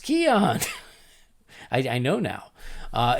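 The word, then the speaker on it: Keoghan: my fellow countryman's name barry keon is pronounced keon i i know now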